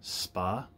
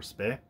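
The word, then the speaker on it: spá: forms of magic and as does spa or spay i've heard pronounced both ways and that is prophesying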